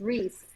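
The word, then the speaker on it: Rhys: It's Reese, damn it. But it's not spelled like Reese. I can pronounce Reese Witherspoon. That shit's not Reese.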